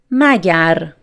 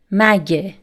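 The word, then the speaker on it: مگر: Magar. Magar. Magar is the formal pronunciation. Mage. Mage. Mage is the spoken pronunciation.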